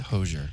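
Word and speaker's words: Hozier: Pronounced Hosier. Yeah, I think it's Hosier.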